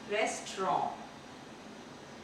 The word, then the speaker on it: restaurant: रेस्टोरेंट नहीं, रेस्टोरेंट। इसका pronunciation है रेस्टोरेंट। यहाँ पर भी आप देखेंगे टी साइलेंट है।